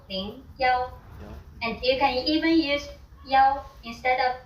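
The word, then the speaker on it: 幺: For example, the bus number 101 is pronounced yaoing ya. And you can even use yao instead of e when saying phone numbers.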